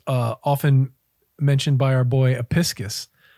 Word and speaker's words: Apicius: Roman cookery made much use of fennel, which is often mentioned by our boy Apicius. Apicius? I always say his name wrong.